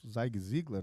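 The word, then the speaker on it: Zig Ziglar: O Zig Zigler, né? a pronúncia dele e ele traz um conceito bem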